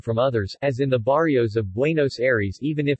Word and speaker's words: barrio: Barrio, Spanish pronunciation, barjo, is a Spanish word meaning neighborhood.